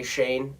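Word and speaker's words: Schoen: bills congratulations to joe shane even though it's spelt completely different than it would sound okay shane and uh this name is like s-c-h-o-n-e i mean it it just looks kind of weird okay but josh or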